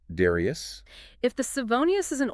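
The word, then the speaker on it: Darrieus: Pronounced Darius.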